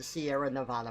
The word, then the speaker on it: Sierra Nevada: this going out there the mountain range is called the Sierra Nevada mountains that is how you say it that is how the people out there say it they say Sierra Nevada mountains but for the